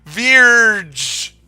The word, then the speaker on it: Vierge: I'm just gonna say Verge. It's Vierge is how I refer to her. My only issue is that pronouncing French words is kind of tricky for an Italian like myself.